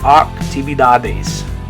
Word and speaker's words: actividades: But in Spanish it's an A sound, actividades, actividades. Same thing there. You can practice the vowels. A, E, E, A, A, actividades.